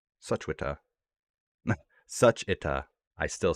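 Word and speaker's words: 슈취타: Let's remember the W silent. Suchwita, Suchwita, Suchita.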